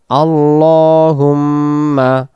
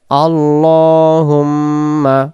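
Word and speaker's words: اللهم: আল্লাহুম্মা। আল্লাহুম্মা শব্দটা আল্লাহ হবে না। আল্লাহুম্মা ইন্না নাস্তাইনুকা নাসতাুকা নাসতা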